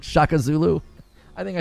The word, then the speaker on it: Shaka Zulu: What was the one guy that I said, Shakuzulu? Instead of like Shaka Zulu.